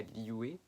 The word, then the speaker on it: Liyue: Ensuite, vous allez aller à Liyue. Liu, moi j'appelle ça comme ça, vous appelez comme vous voulez Liyue ou Liu.